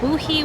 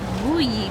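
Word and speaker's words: Wuyi: Boohee, which is actually a mispronunciation of Wooyi tea, which is what I'll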